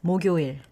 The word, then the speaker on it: 목요일: When you pronounce it, you don't need to say 목요일. Blend it together. Blend it together becomes 목요일. 목요일, 목요일, not 목요일, 목요일.